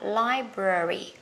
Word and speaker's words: library: Người Anh á sẽ đọc là library. Âm ơ nhé, còn người Mỹ sẽ đọc là âm e. Library. Library. Còn người Anh sẽ là library.